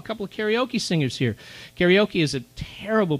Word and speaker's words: karaoke: Karaoke is a terrible pronunciation, but that's the common English pronunciation.